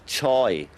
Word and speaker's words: joy: One little characteristic that the Orcadian has is to pronounce a J as CH. So joy comes out as choy, which is a jolly good way of actually singing the word because it makes it clearer.